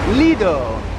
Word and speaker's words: Lido: The Ivory Coast Plaz L A G E D Leo, which rhymes with the judge from the OJ case, little judge.